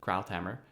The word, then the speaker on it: Krauthammer: columnist Charles Krauthammer, I think that's how you pronounce it, Krauthammer, who wrote that people are now coming out of the closet on the word empire.